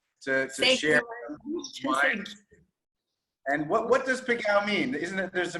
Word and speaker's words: Pégau: We can say Pégau in French, or we can pronounce Pégau in Provençal dialect. Okay, Pégau, I like that.